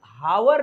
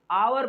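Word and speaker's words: hour: तो यहां जब हावर नहीं पढ़ा जाता है मेरे फ्रेंड, हावर नहीं पढ़ा जाता है, घंटा को हावर नहीं आवर पढ़ा जाता है, मतलब कि एच को साइलेंट रखना पड़ता है।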